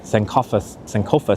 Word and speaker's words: Sankofa: Sankofa Square. I always think there's like, should be a T in there, like Sankofta, but Eddie, you should look up Vincent Price Batman Eggman pictures.